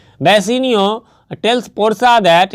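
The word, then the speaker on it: Bassanio: इसका प्रोनाउंसिएशन में थोड़ा सा इधर उधर बसेनियो होता है, मैं फिर से याद करा दूँ।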